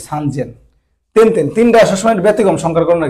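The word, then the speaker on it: 三千: 3000 বলে সান, এটা সেন না বলে জেন বলে, সান জেন। তিনটা সবসময় ব্যতিক্রম সংখ্যার গণনার ক্ষেত্রে, 3-এর ঘরে। তাহলে 3000 মানে আছে সেন, তাহলে সান জেন, এটা ব্যতিক্রম।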